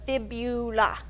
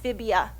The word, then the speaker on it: fibula: in your lower leg it's called the fibula don't call it a fibia to to rhyme with tibia because you sound like